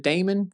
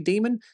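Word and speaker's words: Daemon: I once called it Damon, got corrected that it was actually Demon. Started pronouncing as Demon, and now I get comments telling me it's Damon. I'm pretty sure it's Demon.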